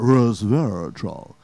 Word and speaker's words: resveratrol: And they always say it like that, resveratrol.